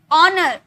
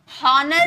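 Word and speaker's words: honour: आव ऑनर हॉनर नहीं बोले। ऑनर।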